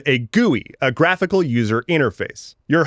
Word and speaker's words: GUI: Also, yeah, I just pronounced GUI.